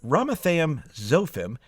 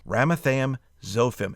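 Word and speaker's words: Ramathaim-zophim: saying the word ephraim then ramatham zofim not so bad rama and then thayem is very similar to ephraim if you look at those last three letters again don't let these pronunciations throw you off ramatham zofim and again you can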